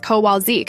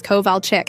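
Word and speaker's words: Kowalczyk: But god forbid you say Mrs. Kowalzik instead of Mrs. Kovalchick.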